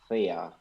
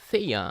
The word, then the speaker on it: Theia: I say Eclipse Theia. Theia.